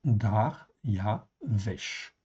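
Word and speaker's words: דריוש: Mais vous voyez bien que le mot hébreu en fin de compte ici en fait ici ça se prononce dar ya vche en fait ici.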